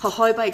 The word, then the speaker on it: jojoba: to tissues so epidermal growth factors are fantastic jojoba oil another wonderful ingredients her Hobart spelled joj OVA please pronounce mahoma and known sometimes as liquid gold